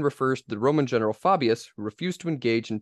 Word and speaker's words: Fabius: I say faan well if you want to pronounce it like the actual Latin it's Fabius Fabius Fabius Fabius Fabius um